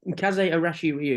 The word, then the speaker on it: Kaze Arashi Ryu: Is that correct pronunciation? Yeah, Kaze Arashi Ryu, All yes.